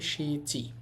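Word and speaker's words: しち: আর অনিয়মী মানে চীনা উচ্চারণ হবে সিচি।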